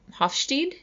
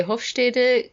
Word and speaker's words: Hofstede: think people pronounce him Hofstede I always say host a dick cuz that's the German pronunciation of this last name I actually had never